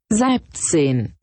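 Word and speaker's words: Siebzehn: It is pronounced Sibzine.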